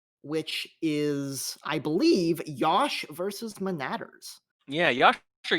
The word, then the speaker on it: Yosh: I'm being told that Yosh rhymes with Josh in this case.